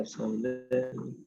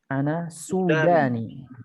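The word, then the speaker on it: سوداني: Ana Sudani. Ana Sudani. Ahsan, ana Sudani. Ana Sudani. Nah, lihat kenapa dibacanya pakai dhammah? Lihat. Karena ada waw. Ahsan, karena ada waw di depannya.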